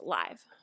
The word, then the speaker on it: live: Yes, in this case, the word live is pronounced live.